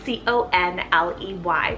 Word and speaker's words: Conley: strong bore next up i have conley cell c-o-n-l-e-y conley and this one means chast fire i